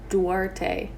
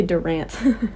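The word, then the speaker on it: Duarte: So yeah, how do you say their names again? Dwarte. Dwarte. I was gonna say Durant.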